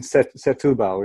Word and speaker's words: Setúbal: sample at Firehouse once, and then it's in Setúbal, isn't it? Is that how you say it? Setúbal, yeah.